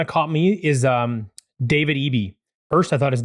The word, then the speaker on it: Eby: So I heard Cooper say Eby. I feel like he knows better than I do. He spends a lot of time covering that area. So phonetically, it just doesn't work for me, but that's fine. Eby. Let's go with that.